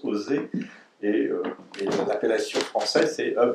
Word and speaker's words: OSE: Le sigle OSE, qui correspondait à œuvre sanitaire juive en russe, a été conservé en français, donc on prononce OSE, et l'appellation française c'est œuvre de secours aux enfants.